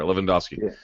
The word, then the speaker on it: Lewandowski: Okay, it's like the soccer player, Lewandowski.